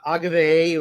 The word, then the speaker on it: Agave: They'd be cousin cousins because uh Agave or Agav or however you want to pronounce it her name. I like Agave. I know that other people don't but I mean Agave was Semil's sister.